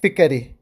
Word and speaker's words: Fikar: from this are that there is a fatha on the word nadari and also on the word fikari many are in this regard and pronounce both these words with a sukun likewise it is in the title that is incorrect the correct name that